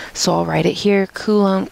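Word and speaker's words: Coulomb: I'll write it here kulum cuz it's spelled weird kum's law um you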